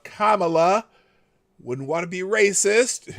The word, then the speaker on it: Kamala: But it's Kamala, like a comma. La, comma, la.